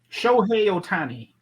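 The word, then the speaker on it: Shohei Ohtani: You can pronounce this right. Shohei Otani.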